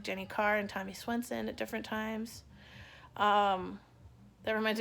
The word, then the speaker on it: Swenson: Jenny Carr and Tommy Swenson at different times. That reminds me of the time we felt like we had to make sure it wasn't pronounced Svensson.